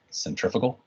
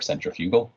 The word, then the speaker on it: centrifugal: That fictitious force is the one that people call centrifugal or centrifugal, if you're pronouncing it fully, okay?